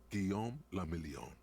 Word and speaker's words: Guillaume le Million: Guillaume le Million. What the fuck does that mean? If it doesn't rhyme, you're not pronouncing it right.